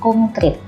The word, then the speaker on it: konkret: Nah, ini pengucapannya berbeda dengan penulisannya. Ada huruf eng-nya ya. Nah, ternyata yang betul adalah menggunakan huruf E, konkret.